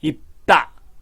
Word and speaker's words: 입다: 입과 코를 막기 때문에 다가 따가 됩니다. 입다.